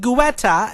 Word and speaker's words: Guetta: And then in the next interview, they're like, how do you say your last name? Is it Guetta? And it's like, yes, that is the exact pronunciation.